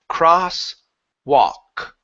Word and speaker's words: crosswalk: a look here so in this word here the L is silent so instead of saying cross wall W okay we do not pronounce the L the word is cross walk cross crosswalk good good